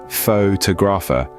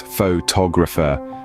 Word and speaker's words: photographer: photographer is mispronounced as photographer with the stress on the first syllable but remember it's photographer with the stress on the second syllable and for photographic people